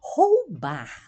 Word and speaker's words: roubar: Os ladrões ameaçam os jovens para roubar, ou a pronúncia do R, roubar, né? Duas vezes forte, no começo e o final.